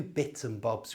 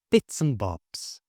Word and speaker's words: bits and bobs: In fact, there are a few bits and bobs we need. This simply means small items that I don't want to name individually. Bits and bobs. Notice how I pronounce the and without the d.